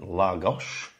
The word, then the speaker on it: Lagos: We are currently situated in Lagos. Spelled L-A-G-O-S, but pronounced L-A-G-O-S-H, because they like to do that in Portuguese, don't they?